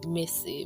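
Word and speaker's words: Mici: that she called me missy mrs spelled m-i-c-i and pronounced m-i-s-s-y that's right if you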